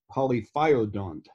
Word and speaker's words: polyphyodont: hey and um uh you do have your pronunciation a little bit off but i i realize that you uh have that funny irish accent but it's polyphodont and our audience i'm sure